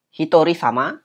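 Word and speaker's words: 一人様: huruf kanjinya seperti itu sama ini bacanya sama di satu orang dan 2 orang jadi sama seperti tadi ya ada perbedaan Hitori sama dan starry sama kemudian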